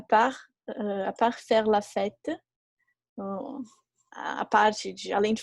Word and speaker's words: fête: Então, a mesma pronúncia, fête de festa e fête de fazer, a mesma pronúncia.